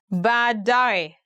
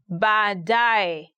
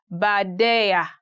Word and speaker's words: baadaye: Today we are going to look at 10 hardest words to pronounce in Swahili. Baadaye, later. Baadaye, later.